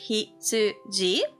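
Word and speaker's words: 羊: It's pronounced hitsuji. Hitsuji.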